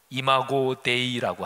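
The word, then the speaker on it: imago Dei: 가지로 얘기합니다 해석이 아주 다양합니다 하나님의 상 라틴어 발음으로 이마고 데이라고 하는데 이거 하나만 가지고도 뭐 책 하나를 쓸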